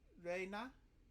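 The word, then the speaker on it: 礼奈: It's the Rei from Ore and the Na from Nara. Her real name is Reina.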